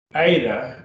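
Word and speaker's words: ήτα: give your teeth vibrate aydah aydah and that's the e sound as in they are prey and then we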